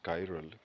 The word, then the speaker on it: chiral: Greek word car and it is pronounced as chiral k-i-r-a-l and Greek word Sky